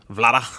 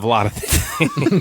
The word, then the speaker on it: Vlada: Vlada. I think that's actually how you pronounce it.